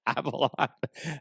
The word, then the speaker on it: Abeloth: And I was like, "Okay, Abaloth." And then I texted Goose and I'm like, "Wait, Abaloth." And Goose is like, "Yes, Abaloth." And uh, so like Ab L O like spell it.